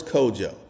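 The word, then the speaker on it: Kodjoe: Boris Kojo.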